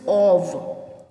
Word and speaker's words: of: ऑफ बोलते हैं, ऑफ फ. ठीक है. So actually the pronunciation is नॉट ऑफ, this is ऑव. व से वन वाला.